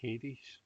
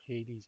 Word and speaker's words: Hades: one up actually all right okay that says hades and it appears to be spelled a or